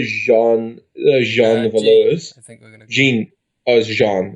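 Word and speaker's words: Jeanne: jean veloz i think jean jean that's how it's pronounced in french so in in regards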